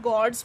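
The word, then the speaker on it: gourds: सो GOURD है बट इसे हम गॉड्स प्रोनाउंस करते हैं.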